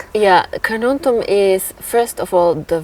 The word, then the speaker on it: Carnuntum: familiar with this region car, how should I pronounce? Canon. Canon. Uh uh how can you describe this this area? How does it look like? Yeah, Karnontum is first of all the word is a